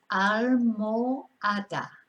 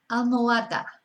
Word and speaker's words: almohada: And I think the problem is the H in the middle of the word, which is silent. So it's almohada, almohada. So no pronunciamos la H.